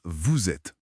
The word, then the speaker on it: vous êtes: Par exemple, la liaison dans vous êtes. On dit bien vous êtes.